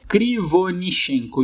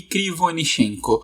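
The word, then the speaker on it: Кривонищенко: Conseguiu a pronúncia do nome do cara, o outro Yuri? Krivonishenko. Yuri Krivonishenko.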